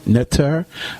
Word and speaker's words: ntr: are ntr okay now because there are no vowels in it it's kind of hard to pronounce that in english so people say and tear neter okay so what some of our people have done is they put vowels in there like the letter e between each word and come